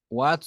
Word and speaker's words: watts: se mide en watts watts se pronuncia wats no es de inglés wats que es cuál no wats wats